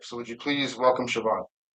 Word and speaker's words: Siobhan: It is not bahan, it's not. It's not chevron. It is che.